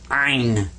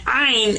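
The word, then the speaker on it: عين: And this guy's name is Ein. In Ein, you kind of squeeze the back of your throat when you pronounce this one.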